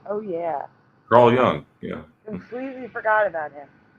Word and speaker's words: Carl Jung: and you know everyone should know who Carl Carl Young is pronounced Carl young young yeah yeah he was